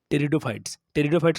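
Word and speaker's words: Pteridophytes: अब सभी ब्रायोफाइट्स, टेरिडोफाइट्स के संबंध में देखिए पी साइलेंट आता है, PTE रहेगा।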